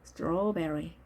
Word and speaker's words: strawberry: strawberry. 따라서 AW가 발음 났죠. O와 I의 중간 소리 strawberry, strawberry.